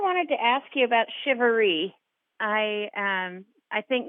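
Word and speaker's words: charivari: everyone hears that it's shivery how would you spell that I've seen it c h a r i v a r i but it's pronounced like s sh i v a r e e and my folks were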